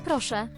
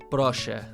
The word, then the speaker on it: proszę: Proszę. Proszę. The E with the little squiggly at the end, you don't pronounce it nasally. But like this would be So the Z with the dot is a zh.